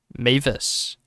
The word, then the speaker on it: Mavis: It's pronounced Mavis.